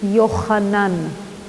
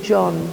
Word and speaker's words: Yochanan: The name is Yochanan. It is not like you say John. John is a pronunciation in a different language.